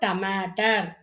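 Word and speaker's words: टमाटर: டா வரிசை எடுத்தோன்னா, ஃபர்ஸ்ட்டு ஒண்ணு வந்து ட, ம, ட, இர். இர் உச்சரிக்கணும். ரா தான் போட்டிருப்போம். ஆனா எங்க உச்சரிக்கும்போது என்ன சொல்லியிருக்கேன்? அந்த எந்த ஒரு எழுத்துக்களும் இக்கு, இங்கிச்சு வச்சு சொல்லிக்கணும். அப்போ இங்க இர்ன்னு சொல்லணும்.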